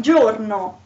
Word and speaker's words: giorno: e or i then the sound is a soft one as for example in giorno they so you have